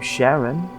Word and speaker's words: Jarren: The oar with the name Jarren, yes, that's how you say it, represents the ferryman who ferries the souls of the damned across the river of Styx.